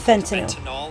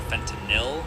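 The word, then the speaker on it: fentanyl: This opioid isn't fentinyl like how a majority pronounce it rather fentinil.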